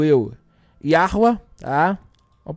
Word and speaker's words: Yahweh: E viu Yod Rei Vav Rei, aqui pronuncio eu, Yahweh, tá?